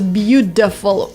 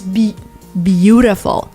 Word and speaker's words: beautiful: In one of my last videos, we talked about the word beautiful, which actually is pronounced as beautiful. It's almost D that is almost an R. It's beautiful.